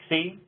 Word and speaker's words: xe: And then xe is pronounced xi, xi, xem, xer, xirs.